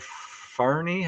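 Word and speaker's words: Fahrney: or Delmer Farney, I think I'm pronouncing that right.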